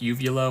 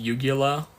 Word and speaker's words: uvula: Did anyone when they were younger think uvula was pronounced yugula? I always pronounce it as yugula until I took anatomy and physiology.